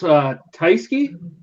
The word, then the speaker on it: Tyskie: I think it's pronounced Tyskie.